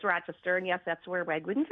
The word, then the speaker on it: Rochester: Ithaca who was from Rochester. And that's the way he said it. He went Rochester. Where you from? Rochester. No, no, no. It's Rochester.